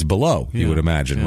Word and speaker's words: Balough: a guy here now the pronunciation on this I'm just going to go with beloo it's Gary Baloo uh Gary Lee Baloo uh a l o u g h but I would say it's below you would imagine right